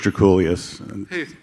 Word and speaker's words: Draculius: Yeah, it's Draculius, spelled like it sounds, from Los Angeles.